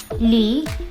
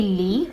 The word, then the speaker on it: Lee: So if you'd watched enough K-dramas, you'd be able to tell that it'd be Lee, or rather E, how it's pronounced in South Korea.